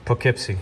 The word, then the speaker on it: Poughkeepsie: Poughkeepsie.